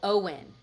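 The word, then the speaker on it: OWYN: It's like O W YN. O W Y N. Owen Owen. O W YN. It's not spelled like the name.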